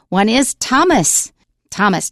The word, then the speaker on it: Thomas: When you see th you pronounce it as t. One is Thomas.